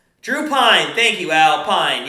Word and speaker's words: Pyne: Pine, yes, Pine, and it's spelled Pyne. I believe is the correct way.